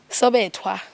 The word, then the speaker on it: Sobetwa: You pronounce this in Sobetwa. No, Sobetwa. There's no age, but I understand why you would pronounce it that way.